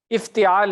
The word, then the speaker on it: افتعال: ہے، افتعال ہے نا، تا کے نیچے زیر ہے نا، تو آپ اتا زبر کیوں لگا رہے ہیں اس کی جگہ؟